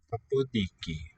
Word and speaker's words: ποντίκι: Podiki. Remember nasal and a voiceless stop are just pronounced as a voiced stop.